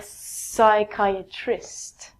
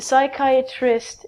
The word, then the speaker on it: psychiatrist: Again, we take out the P and it's psychiatrist. We change the CH to a K.